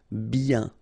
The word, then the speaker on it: bien: Bien. Okay, so remember, when you get this combination of I, E, N, you get the sound yen, yen, okay, and then B. Bien.